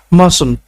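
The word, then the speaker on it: mustn't: নট মাইটন্ মাস্ট not mass মাস্ট নট মাসটির উচ্চারণটা বাদ যাবে মাস্ট নট মাসন্ট মাসন্ট need not নিডন্ট need not নিডন্ট য়ার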